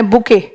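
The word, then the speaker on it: bouquet: A dash of flowers, flowers के लिए तो बंच बोल देते हो, बट टेक्निकली इसके लिए वर्ड बना है बुके. बुके में टी साइलेंट है, बुके ऑफ फ्लावर्स.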